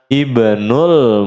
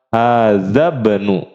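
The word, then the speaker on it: ابن: Di awal kalimat wajib dibaca hamzah wasal. Maka dibacanya gimana? Ibnul Mudarrisi. Ibnul Mudarrisi. Putranya Pak Guru. Kalau di sini di tengah kalimat maka tidak dibaca kalau disambung. Menjadi apa? Hadzabnu. Hadzabnu Muhammadin.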